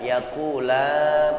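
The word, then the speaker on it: يقول: Wa ma yu'allimani min ahadin hatta yaqula innama nahnu fitnatun fala takfur. Ya, yaqula panjangkan 2 harakat atau 1 alif dia ya.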